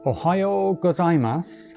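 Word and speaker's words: おはようございます: Well if it's before 10am it's OHAYO GOZAIMASU and anytime afterwards it's KON NI CHI WA,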